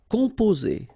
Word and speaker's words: composer: Composer. Okay, O and M together, after that a consonant, so it's the nasal on. Composer.